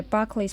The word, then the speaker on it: Berkeley: Inspired by Berkeley's project to set up higher education institutions in America, Billings and his fellow trustees decided to name the area after him, but pronounced in American fashion, Berkeley.